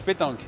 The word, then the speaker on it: pétanque: You practice pétanque, because in French it's pétanque. In English?